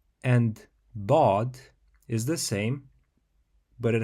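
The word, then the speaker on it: ض: Orel which means honey bod is a unique letter that is often called the defining sound of the Arabic language in order to pronounce it correctly you have to first place the sides of your tongue against your upper molers fill your mouth with a bit of air while keeping your tongue in this position um you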